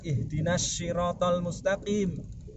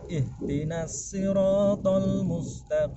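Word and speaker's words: اهدنا الصراط المستقيم: Jin ihdinas sirotol mustaqim jangan ihdinashirotolmustakim kalau dibaca iftina sirotol mustaqim artinya jadi lain bahkan harus kita pastikan ihdinas sirotol mustaqim kalau tidak bisa cecak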